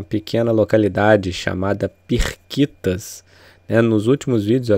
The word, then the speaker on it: Pirquitas: à pequena localidade chamada pirquitas né nos últimos vídeos eu até falei errado achei achei que o nome correto era periquitas e na verdade é pirquitas né então pirquitas tem um